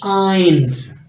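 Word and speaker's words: eins: को पढ़ते हैं नुल वन को पढ़ते हैं आइंस आइंस तो नेक्स्ट है आपके पास टू स्वय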